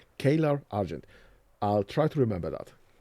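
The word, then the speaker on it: Caelar Argent: Kar Argent Ka Argent Kar Argent. That's the wording. That's the That's the pronunciation. Kaylor Argent.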